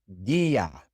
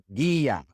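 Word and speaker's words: guía: When we have a hard G before an E or an I, then we put a silent U between them to conserve that hard G sound. Such as in guerra and guia.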